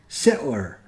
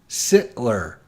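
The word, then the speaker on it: Darryl Sittler: It's Daryl Sittler. Sittler. There. How's that? So Daryl Sittler is going to get a shot C coming up. All right, here we go. Shot C coming up for Daryl Sittler.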